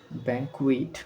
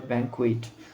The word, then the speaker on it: banquet: ব্যাংকুয়াটি, ব্যাংকুয়াট ইট, BANQUET, ব্যাংকুয়াইট, ব্যাংকুইট উচ্চারণ হবে ব্যাংকুইট।